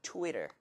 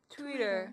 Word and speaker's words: Twitter: 그래서 이것도 리을처럼 발음해 주세요. 해볼게요. 트위터. 트위터.